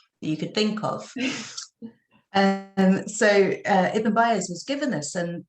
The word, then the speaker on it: Eben: Yeah, so this is a man called Ibn. Actually, I've never worked out if it's Ibn or Eben. I would pronounce it Eben. I don't know if the Americans would say Ibn, but Eben, McBurney Byers.